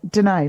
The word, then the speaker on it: Denai: Denai, like g'day.